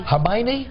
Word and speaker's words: Hermione: latest one in this scene how do I pronounce this girl's name Hermione Hermione Hermione yeah Harry and Ron are on the